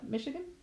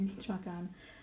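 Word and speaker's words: Michoacán: traveled to Michoacan but my brother pronounces it as Michigan but it's actually meet shotgun and that's where my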